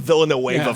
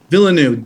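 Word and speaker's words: Villeneuve: fan of this guy so can you please pronounce it again i'm calling him dennis of villanova for 20 seconds what is it denise villanue villeneux yeah denis villanueva um andrew okay i'm gonna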